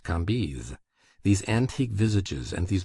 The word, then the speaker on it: Cambis: There were in Madame de T.'s salon some very noble ladies named Mathin, Noé, Lévis, Levis, which was pronounced Lévis, Cambise, Cambis, pronounced Cambise.